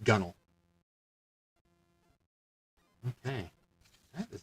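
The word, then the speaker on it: gunwale: like gun wall but nowadays it's pronounced gunnel okay that is not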